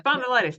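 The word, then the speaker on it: spondylitis: spond luos I can't oh ankos spondilitis y spondilitis thank you um the chart uh on that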